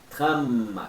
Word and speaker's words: tram: Quando tem o M no final, e você tem que pronunciar o M, é como se você nunca mais parasse de falar o M. Tram, os lábios juntos, até faz aquela cosquinha nos lábios, você ficar fazendo muito tempo.